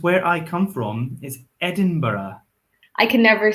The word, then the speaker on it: Edinburgh: So British English or received pronunciation, which is the standard English, would say Edinburgh with an ara on the end. But I say, because I'm in it from Edinburgh, and in Edinburgh we say it like this, Edinburgh.